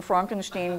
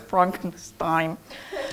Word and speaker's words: Frankenstein: be Georg, and I'm sorry, I'm inadvertently saying Frankenstein because we all know why, of the Mel Brooks movie. Naturally, it is correctly pronounced Frankenstein.